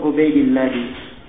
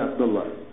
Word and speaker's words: Ubaidillah: Di tulisan kalau kita lihat tulisannya kelihatannya bacaannya Abdullah ya. Tapi itu kurang ya. Harusnya bacanya Ubaidillah. Sebab di buku biografi disebut namanya Ahmad bin Ubaidillah bin Kadis bukan bin Abdillah.